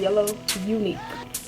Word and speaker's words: YeLLoW UniQuE: buzzing fussing fussy okay my youtube name is pronounced yellow unique the color yellow the word unique i got yellow from